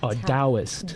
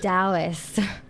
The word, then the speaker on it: Taoist: Taoist. Taoist.